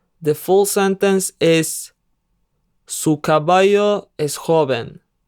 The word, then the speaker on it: caballo: The full sentence is Su caballo es joven. Pay attention to how the double L is pronounced. Su caballo es joven.